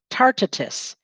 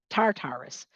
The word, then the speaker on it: Tartarus: lies the path to tartatus tartartus tatarus tatarus that's how you say it tartarus where the wicked of